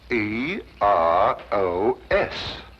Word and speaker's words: Eros: where there shouldn't have been one what then spell it as she spelled it but without the H e r o s precisely and here he is Cupid the Greek